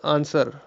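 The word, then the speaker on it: answer: Which is a silent letter in the word आंसर, आंसर में silent letter कौन सा होता है? इसका सही आंसर होगा W।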